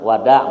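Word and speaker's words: wada': bahasa bahasa melayunya ya Wada bukan Wida bacanya wadainam YF Mak Hai wajib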